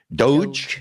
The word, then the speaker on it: DOGE: do you pronounce it Doge how do you pronounce it is it do or Doge what is it Doge okay shows you what I know so so